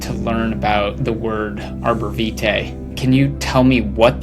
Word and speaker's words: arborvitae: The types of trees and shrubs known as arborvitaes predictably get their name from the Latin term arbor vitae. And yes, according to both Merriam-Webster and the OED, the tree's name is pronounced arborvitae in English.